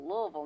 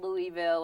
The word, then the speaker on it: Louisville: How do you say it? Louisville. Louisville, people. Louisville, not Louisville or what have you.